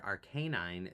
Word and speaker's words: Arcanine: Many fans prefer Arcanine because the name is a port montto of the words arcane and canine. That's that kind of makes sense. He the official anime introduced the pronunciation arcanine.